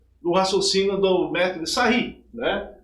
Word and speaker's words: Sarrus: Para fazer o cálculo desse determinante, por Sarri, escreve-se Sarrus, mas pronuncia Sarri, você vai pegar sempre, partindo da diagonal principal, 1 vezes 5 vezes 9.